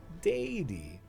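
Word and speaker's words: Daeddy: Daddy is how I'm pronouncing that.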